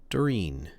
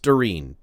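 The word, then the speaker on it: Doirean: tilts her head and looks contemplative and says, "Darin, uh, D O I R E A N." D O I R E A N. D A N. Thank you. It's pronounced Darin for reasons that I don't understand.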